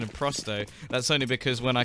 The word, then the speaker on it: Prosto: yeah the the plus rep for the correct pronunciation of prosto that's only because when I called them Pro